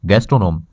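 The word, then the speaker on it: gastronome: अब इससे रिलेटेड एक नया वर्ड है जो और आ रहा है, उसे कहते हैं गैस्ट्रोनोम. ये इसकी स्पेलिंग है GASTRO, गैस्ट्रो, NOME, नोम, गैस्ट्रोनोम.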